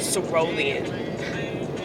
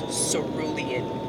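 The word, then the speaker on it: cerulean: me he said it's not pronounced ruian it's pronounced cian we were both 7 years old arguing over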